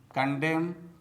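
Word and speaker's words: condemn: Autumn autumn कॉलम कॉलम सोलेम सोलेम कंडेम कंडेम हिम हिम डैम डैम लिम लिम तो दोस्तों आपको भी साइलेंट लेटर एन से बने शब्दों का इसी प्रकार से प्रोनाउंसिएशन करना चाहिए।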